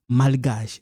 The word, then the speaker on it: malgache: So you don't pronounce this, but this one we pronounce malgache.